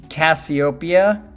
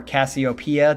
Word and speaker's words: Casiopea: I think this is Cassiopeia or Cassiopeia, depending just like the constellation. It's spelled differently. There's no 2 S's. There's only 1 S. So I think it's Cassiopeia. Space Round is the name of the song.